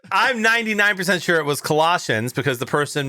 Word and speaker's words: Colossians: We were at Mass and, the person doing one of the readings said a reading from a letter to the Colossians.